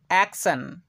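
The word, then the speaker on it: action: অ্যাকশন, অ্যাকশন, তো এই ওয়ার্ডটির মধ্যে আমরা শব্দের শেষে পাচ্ছি টি আই ও এন, এর পূর্বে কিন্তু এস ব্যতীত আমরা অন্য একটা লেটার দেখতে পাচ্ছি, সেটা হচ্ছে সি, তাই আমরা টি আই ও এন এর উচ্চারণ সন এর মতো করছি।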